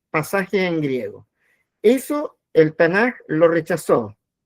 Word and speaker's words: Tanaj: Entonces, cuando uno junta la t y con la k de ketubín, eso se pronuncia tanaj con j al final, no con k, no tanac, sino tan eh bueno,